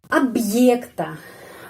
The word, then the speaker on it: объекта: Съемка объекта. Objek, ya, shooting objek. Objek объекта. Penekanannya pada huruf Y. Karena itu O pengucapannya A dan huruf Y tetap bunyinya Y seperti namanya di alfabet. Kenapa? Karena dapat penekanan.